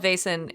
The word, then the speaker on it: Vaesen: It's called Thursday's Children, and they keep pronouncing the name of the game like that because it is a Nordic-inspired horror role-playing game. But it's called Vaesen, and it's really fun.